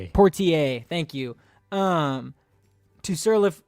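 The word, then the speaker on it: Poitier: Um, to Sir with Love by Sydney Pierre. I might have butchered Sydney Portier. Portier.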